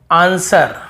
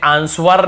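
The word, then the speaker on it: answer: बाद यदि डब्लू है, एस के बाद डब्लू है तो साइलेंट होता है। जैसे आंसर, हमें आंसवर नहीं पढ़ते, वर नहीं पढ़ते, आंसर, बस आंसर, जवाब।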